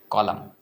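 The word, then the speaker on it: column: इसको कॉलम बोलते हैं कॉलम एन साइलेंट होता है सीओ एल यू एम एन होता है एन साइलेंट होता है इसको बोलते कॉलम कॉलम क्या होता है एन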